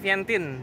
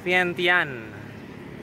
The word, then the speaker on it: Vientiane: dapet koneksi juga katanya ejaannya itu bukan vientin tapi vientian Nah inilah kita di